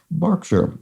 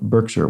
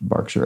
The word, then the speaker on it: Berkshire: historic County to the west of London is pronounced Berkshire not Berkshire which I as I pronounced it probably because